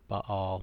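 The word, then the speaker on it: Baal: okay ba apostrophe al some pronounce it by all that sounds weird in English so I just say bail bail was some manner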